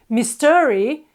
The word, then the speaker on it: mystery: heard it and if they were to say mystery an English person most likely wouldn't understand them and the only thing they did was put the accent in the wrong place they've put the stress on the second syllable instead of the first one mystery or even mystery mystery mystery sounds like Mr re not mystery anymore so placing the accent